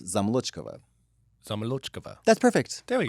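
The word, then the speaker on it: Zamolodchikova: Like when you pronounce things, when you say them slowly, you say them correctly. You don't schwa out the vowel. So zamolochikova, but becomes zamolochkova.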